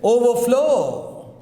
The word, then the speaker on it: overflow: Overflow. Overflow. The water is overflowing. Okay. So for compound verbs, stress is on second part.